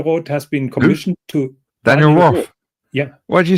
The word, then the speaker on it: Daniel Roth: Because he's not he's not pronounced Daniel Roth. Nobody said Daniel. Part the the H the H is silent in French.